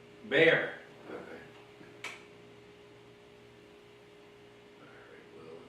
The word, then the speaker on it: Bexar: Yeah, Travis is Austin, Houston is Harris, San Antonio is Bear, or Bexar, if you're not from here. And if you call it Bexar, we know you shouldn't be. What, how do you say it? Bear. Bear.